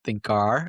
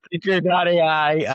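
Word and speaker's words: thinkr.ai: And that's kind of the thinker, as we pronounce it, thinker, not thinker. But it's good that mention that because people then know Thank you. that the spelling is double R.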